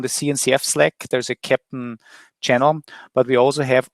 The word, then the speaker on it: Keptn: So Captain is a CNCF sandbox project.